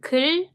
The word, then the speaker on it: 글: The same sound, but not round the lips. It's 글.